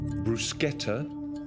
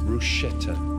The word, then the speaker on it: bruschetta: next word the word has two pronunciations Bruce Guetta or bruschetta the definition grilled slices